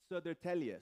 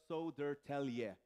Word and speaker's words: Södertälje: Södertälje. So as you see, that's how you say it. Södertälje. So that's That's kind of the phonetic way.